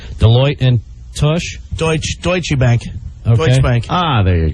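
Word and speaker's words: Deutsche Bank: another company I'm going to screw up the pronunciation deoe and TSH deuts deutche Bank deut bank ah there you go deuts Bank um there's a number here it's a local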